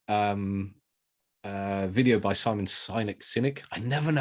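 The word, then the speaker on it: Sinek: uh video by Simon cynic cynic I never know how to say his name it's like Lindsey only um which is the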